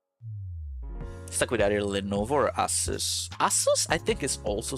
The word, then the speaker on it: Asus: And see, you know, I know my because I'm pronouncing Asus properly. I mean to be fair I did have my you know phase in life and I'm like Asis aces Asus Zeno hits Zeno said hello.